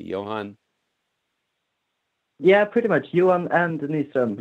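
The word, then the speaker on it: Johan & Nyström: Pronounce that correctly, Johan. Yeah, pretty much. Johan and Nystrom. Johan and Nystrom.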